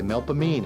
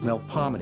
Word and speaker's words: Melpomene: My mother would point to the signs and say, "How do you pronounce that?" And I'd say Melpomene, and she'd say, "No, it's Melpomene." It's Yeah, polite. Melpomene. That's how the people from New Orleans say Hey, it.